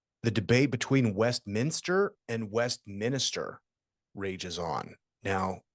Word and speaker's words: Westminster: officially listed as yeah Westminster okay Westminster but Westminister like the minister from the West that it